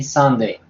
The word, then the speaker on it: Sunday: Sí, pero entonces, Ángela, recuerda que cuando tienes una U, la U la pronuncias como una A.